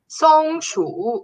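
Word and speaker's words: 松鼠: before the show i translated squirrel and it's pronounced as songshu which means pine tree mouse and then the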